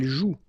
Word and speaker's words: joue: And it's exactly the same rule, so you've got this after, but then clearly you don't pronounce it, okay? Elle joue.